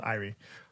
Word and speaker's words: Irie: ari lemon first off a lot of you guys say eerie lemon which i don't think sounds like a cool podcast to listen to uh you pronounce iri for the folks out there i read like like an eye and then like so irie um so that was one thing i kept hearing people saying eerie lemon like when we